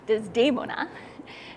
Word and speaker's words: Desdemona: When the opera begins, Desdemona, and here I'll switch to the Italian pronunciation, Desdemona. Desdemona has spurned Iago, who marries Emilia.